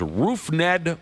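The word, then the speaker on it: Rougned: The dude's name is Roof Ned Odor. Spelled like rough.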